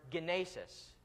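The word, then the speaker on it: γένεσις: Greek is the word genesis. It's Genesis, just with a hard G at the front.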